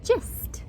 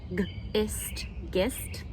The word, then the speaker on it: gist: Gist. I got the gist of it. And again, I could read it with a hard G. G, ist, gist. Not a word.